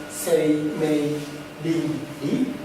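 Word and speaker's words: 生命倫理: Well, the term bioethics is translated into my language in Japanese as seimei-rinri. You can see the 4 Chinese characters here. It's pronounced seimei-rinri.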